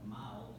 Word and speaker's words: Mal: turns out that the ancient Celtic word Mal is pronounced very similar to male.